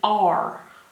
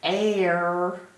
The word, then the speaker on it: are: one sound in it it's got three letters with only one sound R like the letter